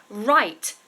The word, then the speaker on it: write: to write to write obviously is an R beginning but it has a silent letter at the beginning so it has a w to start but the sound is R so not to be